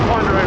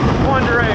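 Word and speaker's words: Pend Oreille: For a tiny little group, we're just going to be going along the Ponderay River today. Ponderay is not pronounced the way it's spelled, so don't try to do it phonetically, you'll never figure it out.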